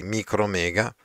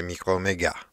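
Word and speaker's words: Micromégas: Nel 1752 pubblicò scrisse un altro racconto filosofico molto molto interessante che noi in italiano chiamiamo così micromega, anche se probabilmente in francese si dice microomega e si scrive anche con una s finale.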